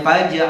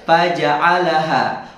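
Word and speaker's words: فجعلهم: Ia di surah an-naba ada yang bacanya Pajero ada padahal fajaalahum wajah alna ada yang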